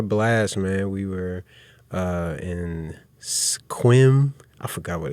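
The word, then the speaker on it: Sequim: We were in Squim. I forgot what it's called. Squim. Squim? Yeah, that's how you pronounce it. Squim. They say if you pronounce it wrong, that means you're not from there.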